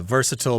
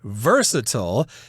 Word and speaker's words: versatile: Now here we've got the word versatile. That's the American pronunciation. You'll hear versatile in other parts of the world.